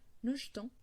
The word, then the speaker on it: jetons: nous jetons, vous jetez, et avec les tons, on parle un peu plus vite, on dit nous jetons, vous jetez. C'est-à-dire que les E devient un E muet.